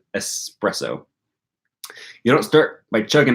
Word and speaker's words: espresso: I didn't start by chugging expresso espresso how do you say that word language channel language folk I need your phonology information is it expresso I think it's espresso you don't start by